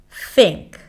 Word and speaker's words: think: As in, think. Think. Stick the tongue out, make sure the air passes.